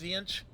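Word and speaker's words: Tzeentch: There's the Zech, which it begins with a T, but I think it's pronounced Zench.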